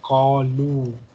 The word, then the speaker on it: قالوا: Alif is silent here, so just say kalu.